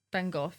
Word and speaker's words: Van Gogh: van gogh still here van gogh van gogh is the english pronunciation this is like this